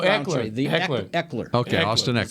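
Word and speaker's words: Ekeler: Eckler.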